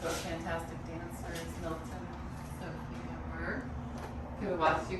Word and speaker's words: Zofia: Is the proper name in Polish. It's 3 syllables, Z-O-F-I-A, Zofia.